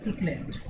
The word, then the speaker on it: truculent: इसका सरली या फिर ट्रुक्लिएंट, TRUCULENT, ट्रुक्लेंट। इसमें पहला जो यू है वो साइलेंट होता है, ट्रुक्लेंट, राइट।